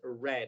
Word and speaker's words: read: All right, here, this verb is pronounced read. En este caso, este verbo es pronunciado read en esta situación únicamente porque está en pasado participio. Entonces vamos a decir, I haven't read mine yet.